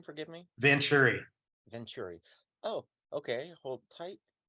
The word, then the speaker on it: Vanchure: How do you pronounce his last name? Forgive me. Vanchure.